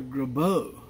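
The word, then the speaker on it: Grabow: Graybo. From what I understand is, when you call the company up, they pronounce it Dr. Graybo.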